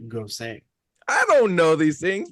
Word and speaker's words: Gose: I hate to be that guy, but like I actually just learned the other day that it's pronounced "gosay."